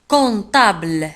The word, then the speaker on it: comptable: محاسب un comptable لاحظوا على أن comptable تكتب في وسط الكلمة ب P ولكن لا تنطق. comptable لا نقول comptable. un comptable avec E à la fin في آخر الكلمة نجد E.